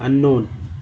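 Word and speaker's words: unknown: की तरफ अनाज अज्ञात अननोन के अनुकूल के साइलेंट है अननोन के ऊपर यहां पर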